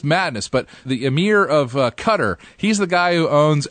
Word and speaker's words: Qatar: The guy I'm so excited to see what will happen to him is the guy it's pronounced Qatar, I think.